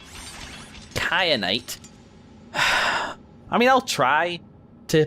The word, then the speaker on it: kyanite: I need Kat kyanite I have indeed been pronouncing that wrong nowhere in English is a cape reduce with the soft C sound I apologize for the head why I said cyanide kyanite I mean I'll try